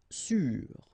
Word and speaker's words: sûr: Sûr. Sûr. Okay, even if you get this accent circumflex, you don't pronounce it, so you get the same pronunciation, sûr and sûr.